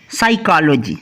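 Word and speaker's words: psychology: पहला क्या है, साइकोलॉजी, साइकोलॉजी, क्लियर। यहां पर भी P है लेकिन S से पहले है तो साइलेंट होगी। दूसरा क्या है, साइकोट्रिस्ट।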